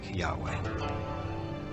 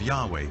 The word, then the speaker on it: Yahweh: would be yhw H which we think were probably pronounced something like Yahweh but Yahweh only appears